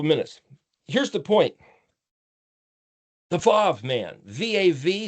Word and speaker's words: Vav: The Vav man, V-A-V. Some people I also write UAW because some people say it wasn't pronounced as a V. So it's like wow, UAW, the wow factor, the Vav man.